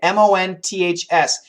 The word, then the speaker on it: months: your life much easier if you need to say that word months the same thing m o n THS here the th is an aspirated not vibrated so month month but notice we have the N THS the n and the S are really strong the th is weak so we can cancel the th months I've studied English